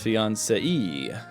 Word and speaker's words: fiancé: Fiancé versus fiancée. Fiancée. Fiancé. Fiancé. Fianza-hoo. A fianza-ha. A fiancé-ah-ha-ha. Fiancé with the accent means going up. Going up means you pronounce the E.